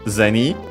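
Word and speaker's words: 銭: But uh it's interesting because uh the word comes from uh zeni uh accent on the first syllable.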